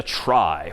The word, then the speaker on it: trie: this one pictorially for the most part and that's known as a try which is somehow short for retrieval even though that's pronounced somewhat differently but try just means it's a data structure for retrieving data.